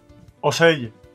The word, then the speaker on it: ocell: The letter C before I or E has a soft sound. In Catalan, it's pronounced S, but Italian has CH. We saw this earlier in the word for bird. Ocello.